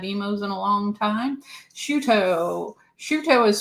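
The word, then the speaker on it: Chouteau: Shuto is spelled Choteau. I thought it was Choto for the longest time, but no. And then I was told it's Shuto or Shoto.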